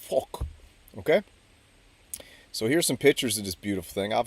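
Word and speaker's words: phoque: P H O Q UE E is uh seal in French and it's pronounced FK.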